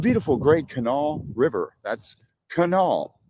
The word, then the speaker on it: Kanawha: That's Kanawha, not Kanawha or however else you were mispronouncing it. It's Kanawha.